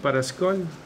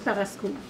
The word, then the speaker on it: Paraschool: Parascol? C'est comment qu'on le prononce, ça? On dit Paraschool.